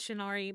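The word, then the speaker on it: shiinareii: the overlays are shinari I believe it's pronounced shinari but it is uh s-h-i-i-n-a-r-e-i-i uh they're on Twitter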